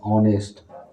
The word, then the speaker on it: honest: फिर है ऑनेस्ट, HONEST, ऑनेस्ट, इसका साउंड पहला हिंदी में ऑनेस्ट, है, इसलिए हम लोग क्या लगाएंगे यहाँ पर?